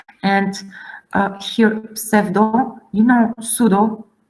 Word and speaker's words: pseudo: And here, pseudo, you know, pseudo, so this PS combination must be pronounced in Latin.